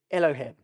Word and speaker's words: Elohim: really really interesting stuff the first one is Elohim Elohim Elohim you pronounce it which means the Creator so you